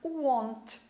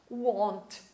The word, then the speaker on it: won't: E como a forma contraída, ou abreviada, vai ficar won't. Olha só, won't. Tem que bem falar a letra O mesmo, para não confundir com outros verbos que são parecidos com essa pronúncia.